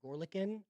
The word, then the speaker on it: Gorelkin: So anyway, this man's name is Anton Gorlikin. I think I've said that wrong. So it's Gorelkin, Gorlikin. I think that's how you say it.